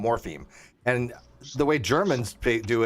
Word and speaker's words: morpheme: Are No, you no, saying morphine or morph? No, morpheme. Theme. Okay, Not F. theme. I got It's you. morpheme. Morpheme. Morpheme, Okay, theme. not phine.